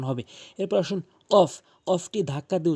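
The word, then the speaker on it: قاف: যেমন calf calf calf এভাবে উচ্চারণ করবেন।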